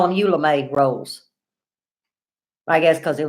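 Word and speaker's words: Eula Mae: We call them Eula May rolls. That's my mama's name, Eula May. I'll spell it in case I'm not saying where you understand.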